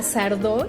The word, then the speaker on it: Sardó: y en algunos otros aardo con acento en la o con acento en la o y sino. Fíjate que ver hoy en día a Sardó y jamás me hubiera